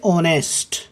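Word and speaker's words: honest: यहां ये शुरू में आ रहा है ऑनेस्ट, वैसे तो ये कॉन्जोनेंट है लेकिन इसमें एच साइलेंट रहता है, हम इसे बोलते हैं ऑनेस्ट।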